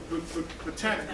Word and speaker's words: Britannica: How you pronounce that? Britannica.